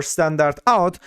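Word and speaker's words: stdout: we also have the STD out pronounced as a standard output or standard out so this is the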